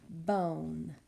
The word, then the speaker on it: bone: That silent E is not pronounced, but it's making the O say its long vowel sound.